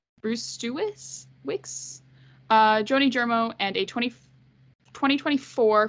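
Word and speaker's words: Brzustewicz: Vancouver Canucks in exchange for Andrei Kuzmenko, Hunter Brustewicz. I think that's how you pronounce it. There's two Z's in that name. Brustewicz, Joni Germo, and a 2024 first-round pick and a conditional 2024 fourth-round pick.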